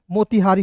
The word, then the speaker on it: मोतिहारी: और देखेंगे टी आई का होता है दोस्तों ती, टी का तो आई से छोटी के रूप में उच्चारण करेंगे, ठीक है। एच ए का होता है हा, और आर आई का होता है री, क्या हो जाएगा दोस्तों, मोतिहारी हो जाएगा, ठीक है।